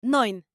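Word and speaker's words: neun: a la J española nueve se pronuncia noin 10 se pronuncia zen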